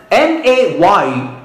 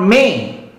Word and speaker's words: May: Example, M-A-Y is not May. M-A-Y is May. You have two sounds here. That's a diphthong.